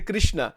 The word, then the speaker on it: Krishna: Bhagwan ko, it doesn't, because people in North India say Krishna. In Gujarat, they say Krishna. The actual pronunciation is Krishna.